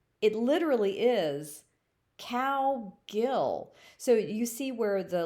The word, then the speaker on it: Cowgill: get another word so the first syllable cow the second syllable gill you put them together and you get cowgill so my name is